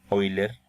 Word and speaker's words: Euler: que lee la palabra el apellido oyler que se escribe euler éste le llama la